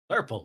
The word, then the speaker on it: Flurple: Flurple with a U, please. Okay. Flur rhymes with purple.